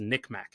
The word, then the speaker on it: NCMEC: for missing exploited children abbreviated ncmec or pronounced nickm unless it removes all lgbtq plus references and begins dead naming trans kids Nick Mech has started complying they've